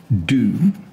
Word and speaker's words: du: So what we're looking at here is the Sumerian word for creator, which we don't read in Sumerian because that's pronounced do. We don't say Ashur do.